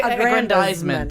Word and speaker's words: aggrandizement: their own self and aggrandizement and great I did this earlier like nine times I was actually aggrandizement yeah exactly I like to put the emphasis there yeah it goes in